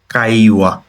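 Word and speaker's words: 会話: কাইওয়া, কাইওয়ার কাই যেটা সেটা হচ্ছে এই কাঞ্জিটা।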